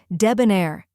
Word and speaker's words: debonair: like Deb in debt next is uh which sounds like the uh in cup then comes n which